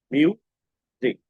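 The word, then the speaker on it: music: মিউজিক, মিউজিক, এখানে এস এর উচ্চারণটা এরকম হয়েছে, মিউজিক।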